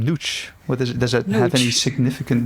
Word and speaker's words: Nooch: first would like to wonder, what is the name Nooch? Does it have any significant meaning? It does. I'm glad you pronounce it correctly. We've had Nooch or nose or Nooch. Yeah, so all kinds of pronunciations.